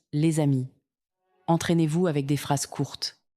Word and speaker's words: les amis: La liaison est obligatoire, on dit les amis, on prononce les amis.